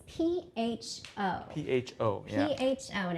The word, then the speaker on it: pho: but you know look far yeah so like pho is basically like the most famous food in